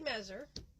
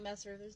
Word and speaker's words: Messer: So, today we have Mezer. Did I pronounce the last name? Okay. It's more like Messer, there's all the S's, not a Z.